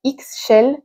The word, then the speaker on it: Ixchel: Bon, là aussi, la prononciation est pas facile. C'est Ixchel, la chamane guérisseuse.